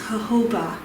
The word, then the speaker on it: jojoba: jojoba oil it says jojoba but it's actually pronounced jojoba and it what is unique about this is